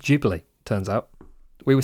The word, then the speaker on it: Ghibli: It's pronounced Ghibli, turns out.